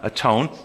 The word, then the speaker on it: atone: But it's pronounced with the Old English, just like when you're all by yourself, you're not all one, you're alone. We go and atone.